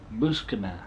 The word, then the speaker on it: Buscema: Rick Jones, drawn by Sal I can never pronounce this guy's name. Sal Buscema. I'm sorry, Buscema.